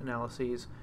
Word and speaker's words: analyses: The plural is spelled with an E-S, and I'll usually pronounce that analyses, just to make sure that you hear the difference, but some people will pronounce it both ways.